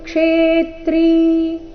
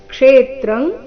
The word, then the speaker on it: ಕ್ಷೇತ್ರಂ: ಲೋಕಮಿಮಂ ರವಿಹಿ ರವಿಹಿ ಕ್ಷೇತ್ರಂ ಕ್ಷೇತ್ರಿ ಇಲ್ಲಿ ಆಘಾತಗಳ ಮೇಲೆ ಗಮನ ಕೊಡಬೇಕು ಕ್ಷೇತ್ರಂ ಕ್ಷೇತ್ರಿ ಈ ರೀತಿ ಇಲ್ಲ ಕ್ಷೇತ್ರಂಗ್ ಕ್ಷೇತ್ರಿ ಎರಡು ಶಬ್ದಗಳಲ್ಲಿ ಕ್ಷೇ ಈ